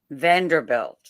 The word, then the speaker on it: Vanderbilt: Vander Vand, how do you pronounce it? Vanderbilt.